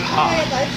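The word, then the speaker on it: ห้า: So if you ever see an Asian person on Facebook that types 5555, because 5 in Thai and in Lao, I think, right? Yeah. You pronounce it ha.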